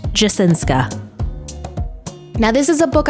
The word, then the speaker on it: Jasinska: All right, so today I'm going to be reviewing The Midnight Girls by Aliciajasinska or Jasinski. Correction, it's pronounced Jasinska.